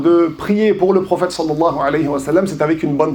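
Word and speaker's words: صلى الله عليه وسلم: Donc on s'applique, on fait le maximum pour prononcer correctement salah alayhiam. C'est pas salam.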